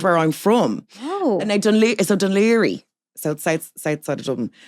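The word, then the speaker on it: Dún Laoghaire: Oh, and Dunleary. South side of Dublin. It's the DUNLAOGHAIRE. Dunleary. Yes. How did I say it? You said Dune Fair.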